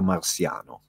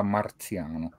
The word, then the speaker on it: Marziano: Mazinga versus Goldrake Venusia marsiano bello una persona che è anche un inno all l'unire diverse Ora io non voglio contestare pronuncia Però secondo me si pronuncia Venusia Marziano Marziano Venusia Marziano con passiamo da